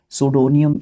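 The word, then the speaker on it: pseudonym: सुडोनियम इसको प्रोनाउंस करते हैं, मे भी किसी के मीनिंग में पहले आ चुका है ये, ठीक है, अगर मैं सही हूँ तो।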